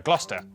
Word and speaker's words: Gloucester: Cester is pronounced stir. Leicester, Worcester, Gloucester.